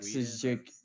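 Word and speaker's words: Oleksiejczuk: That might be Poland or white I think with a red Mikhail cross might be like Oleksijczyk is Polish.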